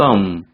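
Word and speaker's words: thumb: 걸 안 써요 아 썸 마지막 b 는 발음이 나지 않고요 껌 이라고 해서 엄지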